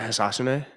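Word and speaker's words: Hisatsune: Rio Hisasune. Histune. Hisasune. Is it Hisasune? Yep. That's how they say it.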